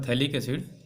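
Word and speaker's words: phthalic acid: Common name है थैलिक एसिड, नाम बोलते हैं इसको थैलिक एसिड, और लिखते हैं पथैलिक एसिड, ठीक है। फिर वहाँ पे साइलेंट हो जाता है, तो ये हमारा है।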